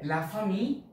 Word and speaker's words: la famille: la family so the double l is not pronounced so lafami okay so